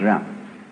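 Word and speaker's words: jen: I don't know what they are but it's pronounced round and it's a character Chinese character that Confucius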